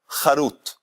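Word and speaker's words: חרות: La misma palabra Harut, si se la pronuncia Jerut, en vez de Harut se dice Jerut, eso significa libertad.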